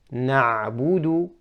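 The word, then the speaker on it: نعبد: Correct is na'budu, na'budu, by rounding the lips.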